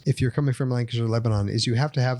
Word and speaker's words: Lebanon: It's Lebanon, not Lebanon?